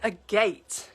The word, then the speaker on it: agate: Pronounced agate, like at the bottom of your garden. Okay, right, like a gate.